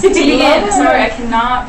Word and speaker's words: Teigen: pronounced Teigen.